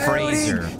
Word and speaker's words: Fraser: Trevor said it right. It's Fraser.